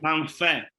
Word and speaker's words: Manfe: Manfe.